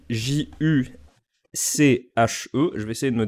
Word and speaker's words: Juche: Donc, en Corée du Nord, on dit Juche. C'est que ça se prononce plutôt comme ça, et ça s'écrit... Alors, c'est entre le Z et le Ju.